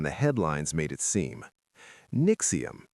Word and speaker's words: NXIVM: NXIVM, say it like Nexium, was a self-help and executive coaching company started in the late 90s by a man named Keith Raniere.